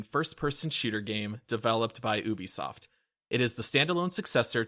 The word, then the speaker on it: Ubisoft: then I'll tell you right I'm gonna say Ubisoft yeah that's right okay the Ubisoft well it's